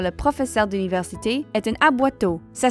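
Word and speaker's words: aboiteau: comme mentionné par le professeur d'université est une aboito ça s'écrit A B O i T e a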